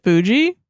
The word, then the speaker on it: Fuji: Fuji.